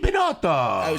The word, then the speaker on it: Binotto: Is that how you pronounce it? Yeah. It's a me, Binotto. So have we been pronouncing your name wrong? I don't know. I don't even pay attention, actually. Because we've been saying Benito called, the so whole it's all right. time. Benito Flake, Bento Box. I've been called it all.